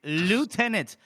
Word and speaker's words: lieutenant: It's lieutenant. There is no there is no accent. It's a French word and that's how they say it.